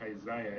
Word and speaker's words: Isaiah: No, actually, it's pronounced Isaiah. If you read your Bible the way it is.